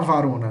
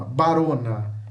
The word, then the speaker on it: varona: A gente escreve V, mas fala B. Não fala varona, não. É ba com B. B de bola. Barona, barona, barom, tá?